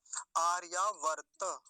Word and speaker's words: आर्यावर्त: हां वर्त नहीं है आर्यावर्त ऐसा बोलेंगे हमारे देश का नाम क्या है आर्यावर्त ऐसा बोलेंगे आर्यावर्त दो त का है इसका ध्यान रखेंगे एक तक हलंत है बीच में एक तक पूरा है आगे अगला शब्द